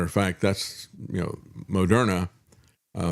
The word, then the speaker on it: Moderna: fact that's you know Mona uh the way you they originally pronounced it was mode RNA just so you understand